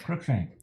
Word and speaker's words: Cruikshank: Cruikshank.